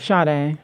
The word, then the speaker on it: Sade: Sade. It's like Sade. The singer. Sade. It's Sade. So for y'all that's watching, for y'all that's watching, everybody gets it wrong.